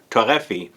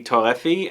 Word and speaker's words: Torréfié: here or iris torrefi that's how i guess it would be pronounced if you read it in english but irie torahfi torrefi is how you say it i think in french in the french accent and i'm not doing